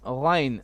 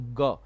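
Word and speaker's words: غين: Famous FMS Ghain. How to pronounce Ghain? Is it Gha or Ga? It is not Ga, absolutely. There is no Ga in Hafs and Asim.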